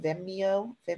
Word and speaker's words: Vimeo: You can also do, why do I always pronounce it wrong? Vimeo.